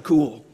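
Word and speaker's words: Kuhl: Cool. And she's Dr. Cool because her last name is spelled K-U-H-L.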